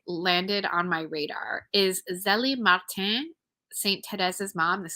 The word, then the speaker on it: Zélie: So, but in English, most people say it's Zélie.